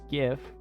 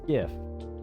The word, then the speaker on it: GIF: yeah, how to pronounce GIF? Yeah, G like God and if.